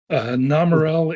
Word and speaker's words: Nomerel: Nomerel is how we pronounce it, but what it means is no Merrill.